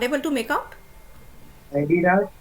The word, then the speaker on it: Adidas: It is not Adidas, it is Adidas. Okay, so there are many